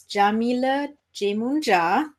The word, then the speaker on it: Yamile Yemoonyah: from in the meantime my name is Jamila Jamuna that's how you pronounce it you can find me